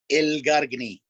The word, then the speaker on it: Elgargni: How do you pronounce your last name? But I didn't want to try and... Elgargni.